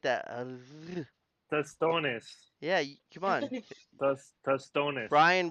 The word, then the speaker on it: tostones: Tostones. Yeah, come on. Tostones. Brian will do the Dominican pronunciation stuff.